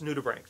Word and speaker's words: nudibranch: It's Nudibranch, and it sounds like bank only with an R. So it's Nudibranch.